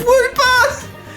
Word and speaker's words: Wooper: It's Wooper! Wooper is great because it's a water ground type, which means it's only weak to grass, and Wooper rhymes with my name, Cooper.